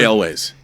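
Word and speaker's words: Elwes: Carl, how do you pronounce Ewell's last? Is it Ewell's? Is it? I always hear pronounced. Carrie Elways.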